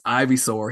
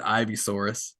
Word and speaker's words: Ivysaur: He was pronouncing Pokemon and he pronounced everyone wrong. He, you know, it's Ivysaur. He said Ivysaurus, Bulbasaurus, just they were all wrong and just was real confident about it.